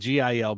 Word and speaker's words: Gil: his grapes on multiple Hills or just one well it's it looks like one Guild Gil but if you're speaking Spain Spanish it's Hill like a yeah like an H so but I'm sure